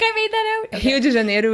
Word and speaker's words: Rio de Janeiro: And okay, that's the English way of saying Rio de Janeiro? Yeah. Okay. So I'm like, I think I made that out. Okay. Rio de Janeiro is how we would pronounce it in Portuguese.